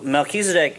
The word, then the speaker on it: Melchizedek: So Melchizedek is a biblical character as well, in the sense that he shows up in the Bible twice.